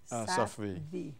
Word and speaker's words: Safvi: Safvi, and he is, you pronounce it. Safvi.